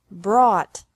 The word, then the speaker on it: brought: This can be spelled O-U-G-H-T or A-U-G-H-T, but the pronunciation is the same. Bring, brought, brought.